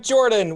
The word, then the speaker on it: Jorphdan: And I'm Jordan, with a silent PH in the middle, and I'm playing Ristel, the Drow Priest.